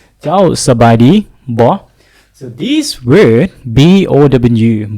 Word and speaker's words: บ่: เจ้าสบายดีบ่ so this word B-O-W บ่ the pronunciation is bo with the short sound bo it means a question